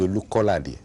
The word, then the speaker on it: Olukolade: My name is Olukolade.